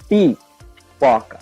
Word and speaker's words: pipoca: And also we have a phonetic structure here in this word, because we say pirapoca. So this ra, the last syllable is dropped. Then they say pipoca.